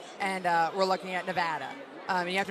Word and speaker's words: Nevada: I think we're looking at Colorado and uh we're looking at Nevada. Um, and you have to make sure you pronounce that right.